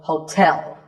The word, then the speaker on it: hotel: There are 2 syllables, ho and tell, like the English word tell, as in tell me. The stress is on the second syllable, so hotel. A related word is suite.